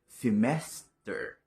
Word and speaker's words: semester: Semester. Ang stress ay nasa second syllable. Like, semester. Ibig sabihin, tataas ang tono ng boses mo o tataas ang boses mo pagdating sa ikalawang syllable.